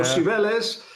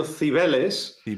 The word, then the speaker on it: Cibeles: Yes, with an Andalusian accent. So Cibeles. A Castilian would tell you Cibeles, but the way that he would say it is Cibeles.